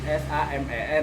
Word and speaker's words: samen: Bacanya SAMEN, dibacanya Samen. Samen.